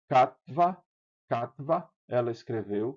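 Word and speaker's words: כָּתְבָה: Para indicar que isso aqui não é pronunciado como um O.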